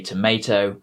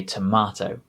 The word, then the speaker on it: tomato: line in it is you say tomato and i say tomato which is something that